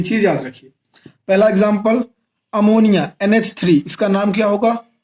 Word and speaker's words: ammine: पहला example अमोनिया NH3, इसका नाम क्या होगा, अमीन।